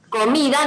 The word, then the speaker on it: comida: Pero hay otras como por ejemplo comida no tiene tilde, entonces vos te tenés que fijar cuál es la sílaba tónica. ¿Es co, es mi o es da?